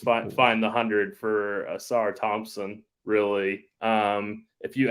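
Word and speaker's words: Ausar Thompson: Tim uh Ingram AAR I think it's assar Thompson assar it's assar assar Thompson uh Dwayne says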